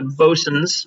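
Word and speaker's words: Boatswains: So there are the Avernocks, the Foggy Bottoms, the Bosuns, which is spelled Boat Swain, the Yingalors, Yngolor, and Horndal, Hormdal.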